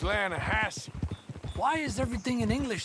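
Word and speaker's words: Lannahechee: some beautiful steelhead trout you mean the lanahashi river no no no no the the lana hatchy it runs right near here yeah but it's pronounced land hassey why is everything in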